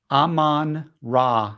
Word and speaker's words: Amon-Ra: taking Amir St Brown how do you say Amar Amad St BR Aman Aman raah St Brown Aman ra the the the sun god Egyptian son God thank you for the